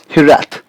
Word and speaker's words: hiraeth: So the continuing the journey of the beautiful word, this word which we have pulled up here is called hirath. Hirath. The pronunciation of this word has got different origins,